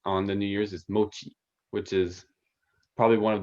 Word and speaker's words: mochi: So yeah, and it's Now, mochi, right?